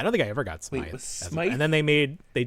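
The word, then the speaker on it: Smythe: Also, is it pronounced Smite? It's not Smith. I've been saying crab apple. It's Smite.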